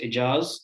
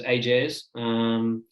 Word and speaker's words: Ajaz: same thing as you, my name properly pronounces Ajaz, and a lot of people just pronounce it as Ajaz, or even shorter, just goes straight to Jazz in a very short time.